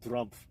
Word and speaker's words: Trump: drump I like how people mispronounce his name drump like you know it's like a racial connotation Trump trump so I didn't realize